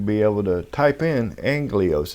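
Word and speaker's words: ἄγγελος: able to type in Angelos, is how it's pronounced, A-G-G-E-L-O-S, is transliterated, A-G-G-E-L-O-S, and I'm going to write in the definition, A-N-G-E-L or S-S-A-N-G-E-R.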